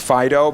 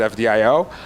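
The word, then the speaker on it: FD.io: that's the FDI Elda which i have on good authority is actually supposed to be pronounced Fido but yeah but but everybody pronounces it FDI oh and the idea is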